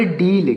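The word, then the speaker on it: deal: ए एल इसे पढ़ेंगे डील क्या पढ़ेंगे डील डी ई ए एल डील डील का मतलब क्या होता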